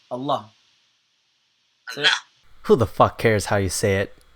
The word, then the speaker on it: Allah: Uh, it's not Allah. It's Allah.